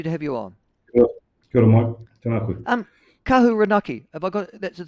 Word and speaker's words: Kahurānaki: Um, Kahuranaki. Have I got that's is that right pronunciation? Kahuranaki. Yep. Kahurani. Sorry. So, it's a it's a long a Kahurani.